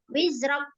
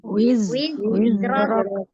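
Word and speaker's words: وِزْرَكَ: Wizrak. Nah, belum sempurna berarti Zainya. Kalau buru-buru nggak ngalir berarti belum sempurna. Zai kita alirkan. Wizrak. Wizrak. Wizrak. Kalau kakak bacanya mantul, wizrak berarti nggak dikasih ngalir lah dia.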